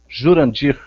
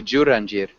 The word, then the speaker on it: Jurandir: And how do you pronounce your name? My name is Jurandir. Jurandir. I'm from Brazil. I'm living in Brasilia. Okay. And am I saying it correctly? Jurandir.